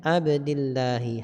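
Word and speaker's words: عبدِ اللهِ: Wa alamatu jarrihi kasratun, kasroh. Kenapa adz-dzahira fi akhirih, yang nampak jelas di akhirnya? Kenapa? Li'annahu ismul mufrad, karena dia suatu nama isim yang menunjukkan makna satu, Allah. Abdillahi, ya. Jadi bacanya Abdillahi, hamba Allah.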